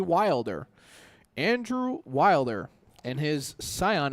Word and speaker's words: Wilder: We can't say Welder. It's got to be Wilder.